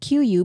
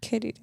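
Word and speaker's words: queue: And I said quu because hello it's a qu u e u e. Why would you just pronounce the first letter? K.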